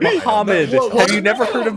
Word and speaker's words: Muhammad: Muhammad. There's like You're missing a syllable. You're missing a syllable and like the last letters of the word. Muhammad.